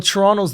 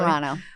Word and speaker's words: Toronto: Well, Toronto's the big one. You guys got the If you don't pronounce the second T.